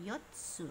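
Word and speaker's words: 四つ: Oke, ini dibacanya yotsu. Yotsunya di situ, yotsu yang satunya kecil ya.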